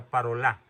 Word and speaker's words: Parolin: parolin que les parol es de origen francés se pronuncia parola escribe parolin el cardenal parolin ya les